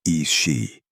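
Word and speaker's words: Aos Sí: The most dangerous spirits were the Aosi, pronounced Is-she.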